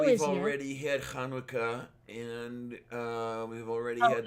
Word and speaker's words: Hanukkah: already had Hanukkah and we've already Oh, had the no, it's solstice. pronounced Chinooka, just so you know.